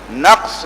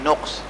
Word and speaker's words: نقص: نقص کا املا غلط ہے اور تلفظ بھی غلط ہے. نقص لفظ ہے نون قاف صاد، اس میں لکھا ہے نون قاف سین، اور نقص لوگ عام طور پہ پروناؤنس کرتے ہیں نقص.